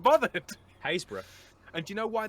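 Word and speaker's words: Happisburgh: Haysborough.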